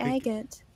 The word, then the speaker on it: agate: So 3 stones that are spelled like agate.